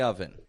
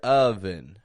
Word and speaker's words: oven: a bun in the oven the U in the word bun makes the same sound as the O in the word oven a bun in the oven